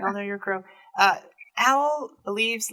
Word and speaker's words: Owhll: For those listening and not watching, the canon name for owl is spelled Owhll. Owl.